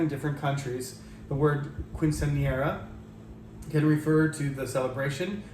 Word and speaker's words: quinceañera: I would say a quinceañera, but anyway, the pronunciation is given to us there.